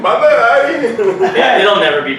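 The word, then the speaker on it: Bhandari: Can you say that with last name one more time for everybody? Because we have never pronounced it right. Yeah. Bendari. Like Bendari. B-E-N... B-H-A-N-D-A-R-I. Oh, damn. Not Bendari. Yeah. Bendari. Or Bandahari. Or Bandahari. Bandahari.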